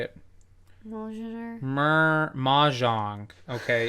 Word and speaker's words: Mjolnir: Mjolnir. Mahjong. Okay, it's not hard. It's pronounced Mahjong.